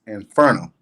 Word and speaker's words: Inferno: In Italian, it's pronounced as Inferno.